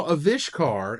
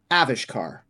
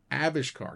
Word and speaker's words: Avishkar: pronunciation pres pronunciation correction avishkar is it oh is it although they they put the they put the emphasis on the first syllable avish car got the emphasis is